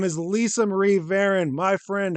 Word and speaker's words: Varon: as a legend her name is Lisa Marie ven my friend how are we doing today oh